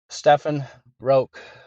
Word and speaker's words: Stephan Roaque: yeah how do you say your your name Stefan roke okay Jason duie no please report to the